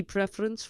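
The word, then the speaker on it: preferencia: right PR yes yes you push down on the penultimate syllable on the syllable before last preference La preferen a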